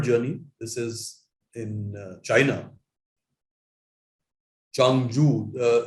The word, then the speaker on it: Changzhou: Changzhou, ZH is pronounced J in Chinese.